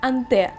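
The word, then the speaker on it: Hanté: Кстати, по-французски коллекция читается как Анте.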